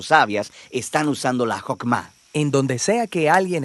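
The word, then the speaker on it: חכמה: En hebreo se pronuncia Jokmah y usualmente se traduce al español como sabiduría.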